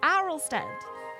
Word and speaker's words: Arlstead: Arlstead. It's pronounced very differently.